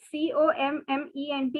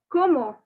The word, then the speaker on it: comment: see the commode word c-o-m-m-e-n-t you have already learned in the previous question so don't make the mistake of saying comment or any other pronunciation no it is como cuomo so como next two